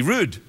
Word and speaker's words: read: We rude. It's how Scottish people pronounce read. We say rude.